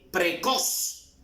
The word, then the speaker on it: precoz: Por ejemplo, vamos a ver precoz. La mayor fuerza de voz está en cos.